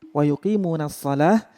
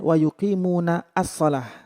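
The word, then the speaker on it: وَيُقِيمُونَ الصَّلَاةَ: Alladzina yu'minuna bil ghaibi wa yuqimuna sholah ya wa yuqimuna sholah bacanya bukan wa yuqimuna ash-sholah karena di ada hamzah washol, hamzah washol itu tidak terbaca, jadi masuk langsung ke shod namanya asyamsiyah.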